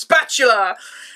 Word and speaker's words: Spatula: I mean intercom special it's pronounced spatula this charming go-getter chef